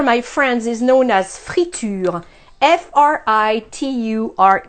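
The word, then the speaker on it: friture: I have here my friends is known as free to you fr itu-r e which you eat comes from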